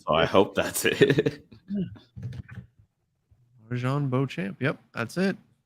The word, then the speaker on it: Marjon Beauchamp: Marjon Beauchamp. Yep, that's it.